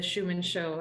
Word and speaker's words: Schuman Show: we all settled on the schumann show as a name because it rhymes with truman show it of course schumann